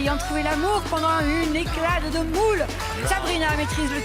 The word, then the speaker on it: éclade: éclade. Éclade. Rien à voir avec une éclate de Non, c'est moule. pas éclate. C'est une éclade.